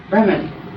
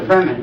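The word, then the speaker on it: Brehmn: the that the brunt this hard to pronounce Bren they call it the Breman but there's no e between the m and the N all right it's b r e h m n that's their word all right this connects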